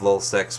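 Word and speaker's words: LulzSec: of L seex website now I'm saying l u l z s e c by the way so I may be pronouncing it oddly it's l just getting it out there if you're not familiar so you know I'm not mispronouncing it or saying something else but they figure out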